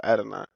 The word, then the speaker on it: Adonai: So Adonai.